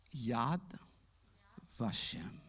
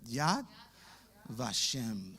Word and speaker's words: Yad Vashem: Yad Vashem. A ver, díganlo ustedes. Yad Vashem.